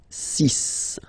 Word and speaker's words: six: So you get the cis pronunciation sis. Sis. Okay. So it's not six, it's sis.